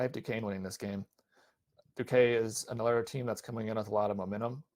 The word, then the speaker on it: Duquesne: yeah, Duquesne. Oh, the S is silent, I guess. I almost said Duquesne.